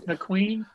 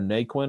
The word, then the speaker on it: Naquin: McQueen? Tyler McQueen guy? Tyler Naquin, I think is how it's pronounced.